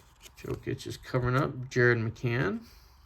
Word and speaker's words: McCann: Another joke is covering up Jared McCann. McCain I believe is McCain. I mispronounced that.